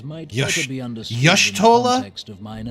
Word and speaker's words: Y'shtola: The significance of Y'shtola's readings might Yush- better be understood Y'shtola? in the context of mine own. I've been saying it wrong this Taken whole at time. the It's instant of Y'shtola.